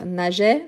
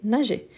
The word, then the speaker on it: nageait: Donc, nageait, nageait, nageait, nagions, nagiez, nageait. Vous voyez qu'ici, la prononciation des 3 premières et la troisième du pluriel sont identiques.